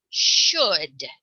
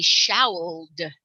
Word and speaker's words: should: should irregular okay so what should this word say if we were to sound it out we would say showed showed it should be spelled like stood or good we should spell it s-h-o-o-d should and that's very